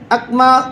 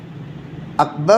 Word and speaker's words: اکبر: اللہ اکبر میں اکما کدی اکما کیا ہے؟ ارے بھائی سمجھنے کی ضرورت ہے کہ نہیں؟ اکما میں ہو جائے گا، اکبر ہونا چاہیے نہیں ہونا چاہیے؟